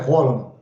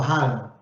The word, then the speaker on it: Haaland: na Band hoje que a pronúncia correta é Holland, que na Noruega se fala Holland, mas as pessoas falam Haaland, que é um jogador extremamente maravilhoso.